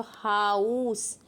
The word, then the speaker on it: Haus: तो हमने लिखा है स्पेलिंग HAUS, तो हाउस, इसमें ए और यू का प्रोनाउंसिएशन आ रहा है ना, हाउस।